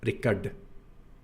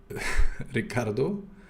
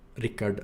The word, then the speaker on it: Rickard: But also, if they do say my name, some people go with Ricardo, and normally it's Ricard, because they don't have this retroflex consonant here, right? So in Bulgaria it becomes Ricard, because you just pronounce all of the letters instead, right? Nothing magical is happening. But of course Swedish is not like that.